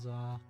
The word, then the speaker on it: ざ: I'll pronounce it as za, like in the middle of the word wizard.